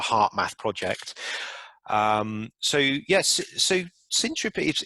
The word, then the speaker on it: Syntropy: and that's consolidated in, am I pronouncing it right, Syntropy? Yep, Syntropy.